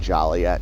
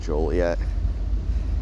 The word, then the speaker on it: Joliet: But if you call it Jolliette instead of Joliet, you could get a ticket cuz the people who founded it got tired of people mispronouncing the name.